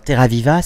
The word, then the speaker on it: Terraviiva: Alors, Terraviva, c'est la terre vivante, mais le viva ne s'écrit pas comme en italien. Qu'est-ce que ça signifie ? En finnois, c'est viva avec 2 i, et ça veut dire